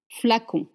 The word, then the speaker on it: flacon: Le parfum le flacon un flacon flacon fla which is a very open mouth fl con con is a semi together like you make the sound flacon le flacon de parfum